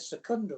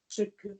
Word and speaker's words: Tsukuda: Yeah, I thought you said Secunda or something. No, Tsukuda. Yeah, they also did G.I.